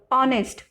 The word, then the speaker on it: honest: We pronounce here honest.